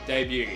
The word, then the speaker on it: debut: how to pronounce debut I just pronounced oun it correctly debut and if you if you think if you think the correct pronunciation of Debut is Debut you're the one in the wrong I actually made a